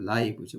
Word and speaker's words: lives: 여기 읽을 때 이게 리브즈가 아니라 라이브라고 읽어야 돼요. Our lives, 우리의 생명이니까.